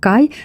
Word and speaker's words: KHY: сестрами марка отримала назву Ось так це пишеться читається як Кай здається що трішки підглянули